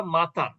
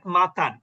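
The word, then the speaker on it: متن: আরবিতে আসলে উচ্চারণ হওয়া উচিত মাতান, কিন্তু আমরা উচ্চারণ করি মতন। আসলে মতনটা কোনো ভাষাতেই যায় না, না আরবি হলো, না ইংরেজি হলো, না বাংলা হলো, কোনোটাই যায় না মতন শব্দটা। আসলে শব্দ বলতে কি হয়?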